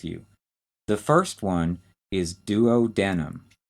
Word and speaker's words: duodenum: The first one is duodenum. D-U-O-D-E-N-U-M.